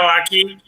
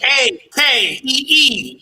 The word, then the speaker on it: Akee: So for those that want to see the video, where can they find the video, Akee?